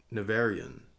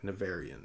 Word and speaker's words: Nevèrÿon: in the greatest of narian I'm just going to say it like narian that seems like the best so gorget grew up